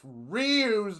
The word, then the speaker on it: Ryu: You fucking pronounce his name Ryu?